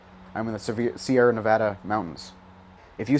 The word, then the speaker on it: Nevada: I'm not sure which time, but he went to Nevada and he was like, "You guys pronounce it differently. You're pronouncing it wrong. It should be Nevada. Everybody knows that."